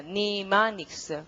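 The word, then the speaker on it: mnemonics: 발음기 특이한데 M을 소리를 안 냅니다. 안 내기만 하시면 돼요. 글자 그대로 읽습니다. 니마닉스 그럼 되죠.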